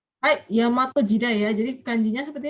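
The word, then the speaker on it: 大和: Hai, Yamato Jidai ya. Jadi kanjinya seperti ini ya. Jangan bacanya Daiwa ya, tapi Yamato.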